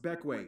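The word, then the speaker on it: Bequia: but if you want the incredibly condensed rundown beckway yes pronounced beckway it is the largest and most populated grenadine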